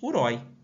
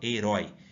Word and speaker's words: herói: e o Johnny e qual que é a sílaba mais forte herói Eu não falo Hero aí que fala herói sendo assim ela é uma oxítona e não uma paroxítona